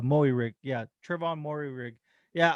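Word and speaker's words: Moehrig: a barcode no no the way they pronounce his name is uh moe rigg uh but i i believe it's it's it's uh i believe it's uh maui rig yeah travon mori rig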